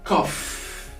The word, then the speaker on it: cough: We have the first one, cough. Cough. As you can see, the C here is spelled as K. The OU are spelled as O, and the GH are spelled as F. So cough.